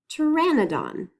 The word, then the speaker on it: Pteranodon: That means we're not going to say the sound that the letter P makes. So we don't actually say P at the beginning.